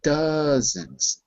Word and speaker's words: dozens: a banking Problem by the way just one pronunciation word yes not those but dozens H like Duck dozens like d d doens